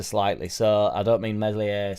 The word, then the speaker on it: Meslier: I think what's happened is we've dropped the ball ever so slightly, so I don't mean Meslier Silent S style, but I think we've